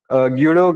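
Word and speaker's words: Guido: ना कुछ भी हां तो गडो कहते हैं कुछ जूडो कहते हैं। ठीक है? प्रोनाउंसिएशन डिफरेंट होगा। यू के यूएस के अकॉर्डिंग टू प्रोनाउंसिएशन होता है। ठीक है? तो जूडो हैंडसम कह सकते हो या जडो हैंडसम कह सकते हो।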